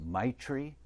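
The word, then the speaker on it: maitri: to say it correctly but i think it's my tree m-a-i-t-r-i and it means loving kindness and an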